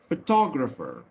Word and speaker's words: photographer: ف طبعا ال P وال H بدون صوت ال F. ال O هنا reduced يعني نطقه خفيف بتنطق أ. ف تا جر فر photographer photographer اللي هو المصور الفوتوغراف.